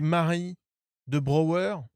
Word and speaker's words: Marie de Brauer: est bon l'invité c'est Marie de Brower Mary Mary of the brow comme c'est comme ça qu'il prononce c'est comme ça qu'il prononce à New York Go pour l'épisode Salut